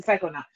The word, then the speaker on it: psychonaut: a cycle now yeah actually you are saying it correctly it's a psychonaut um i have thought